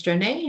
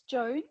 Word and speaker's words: Joan: Jonay, so I think it's Jonay, if I'm pronouncing correctly. Hi, it's Joan.